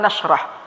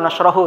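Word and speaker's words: نشرح: Lihat alam nashrah. Bagaimana cara baca nashrah? Dengan sukun apa tidak? Bukan alam nashrahu kan?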